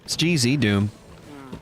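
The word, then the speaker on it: GZDoom: that Doom gz Doom why are you adding all these extra syllables in g-z in Canada it's literally the yeah I don't I don't know anything about that it's literally the letter z it's not Zed Dragon Ball Z Dragon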